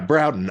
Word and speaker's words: Broughton: for those not familiar who is the Edgar routing band is that the pronunciation Broughton I yeah browden I'm barely familiar with